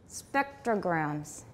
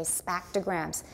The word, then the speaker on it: spectrograms: the way it sounds we don't put our teeth together to make it i'm only doing that so you resist the urge to say spactograms spec your brain says that's